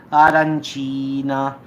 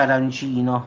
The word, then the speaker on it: arancina: a stigghiola upa legame arancina perché non si dice arancino ma arancina quindi ho già due club